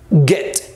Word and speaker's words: get: se parece a guerra clave para la pronunciación g g get get es un poquito más fuerte esa g que en el español get get it los